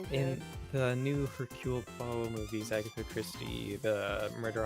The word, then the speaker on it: Poirot: Hercule Poirot. How do you say parrot? Hercules parrot. Hercules parrot. Pucker your lips as if to bestow a kiss.